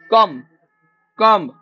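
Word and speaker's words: comb: एई question आसीबो तुम coach परीक्षा रे आवर कम बी साइलेंट रहइबो हम जानि समस्त भलो भाबे कोन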